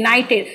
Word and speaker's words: knighted: ये के यहाँ पे साइलेंट रहता है, KNIGHTED, नाइटेड।